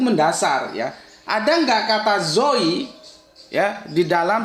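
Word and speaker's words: ζωή: agak sulit begini ya basanya itu bacanya apa bacanya itu Zoi ini artinya apa hidup nih Zoi hidup bahasa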